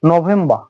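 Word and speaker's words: November: এভাবে এখন পরবর্তী হচ্ছে নভেম্বর নভেম্বর একই আর সাইলেন্ট থাকতেছে নভেম্বর নভেম্বর নভেম্বর শেষ হচ্ছে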